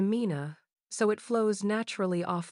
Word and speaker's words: مِنَ: Usually, this word is pronounced min, but because the next word starts with a silent letter, Arabic smoothly changes it to mina, so it flows naturally off the tongue without a clunky pause.